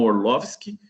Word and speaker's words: Orlowski: o diretor do documentário Jeff orlowski né ou se a gente fosse pronunciarem alemão orloski mas lá por ser americano o Jeff é o